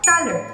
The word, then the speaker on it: Thaler: Proviene de la palabra thaler, pronunciada thaler, con una A larga, que es el nombre